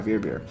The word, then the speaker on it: Weissbier: W is pronounced as V's. Yeah, Weissbier.